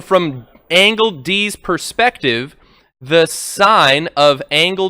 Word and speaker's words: sin: two more ratios called sine and cosine abbreviated si N and cos sin coughs they're actually but they're still pronounced sine and cosine but when you're doing